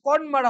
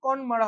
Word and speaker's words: Connemara: ঠিক আছে, কনমারা হবে এটার প্রোনাউন্সিয়েশন, CONNEMARA একসাথে রয়েছে, কনমারা হবে হচ্ছে এটার প্রোনাউন্সিয়েশন, চল প্রোনাউন্সিয়েশন।